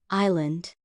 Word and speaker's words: island: Cayos, island. The S is silent.